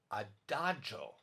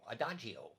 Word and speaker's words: adagio: slow word would be adagio yeah some people in america say adagio adagio but in italian it's really adagio and that means very